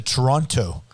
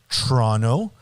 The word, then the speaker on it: Toronto: And like you can say Toronto, and you can say Toronto, and I don't even know how I say it, but I don't say Toronto. You don't pronounce the T, and that's fine.